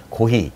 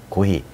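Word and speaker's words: コーヒー: 고히. 네. 고히.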